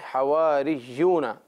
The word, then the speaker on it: حواریون: ہیں۔ اذ قال الحواریون، حواری یہ مفرد ہے اور اس کی جو جمع ہے یہاں اس پوزیشن میں حواریون یوں ہم پڑھیں گے کیونکہ یا مشدد ہے۔